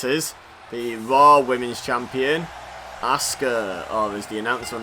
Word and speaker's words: Asuka: see who this is, the Raw Women's Champion, Asuka, or as the announcer on this game calls her, Asuka.